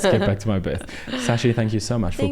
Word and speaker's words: Shashi: wrong all the time so it's sashi sashi there we go but there's an h i don't know my parents are just messing with people he's throwing a silent first h for no